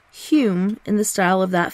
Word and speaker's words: Home: was baron douglas and his name was often pronounced and spelt hume in the style of that family when he